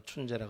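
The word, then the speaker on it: 春节: 중국에서는 춘절, 이제 자기식 발음으로 춘제라 그래서 벌써부터 이동이 시작되고 아주 그냥 전국적으로 설날 지키는 분위기가 대단했습니다.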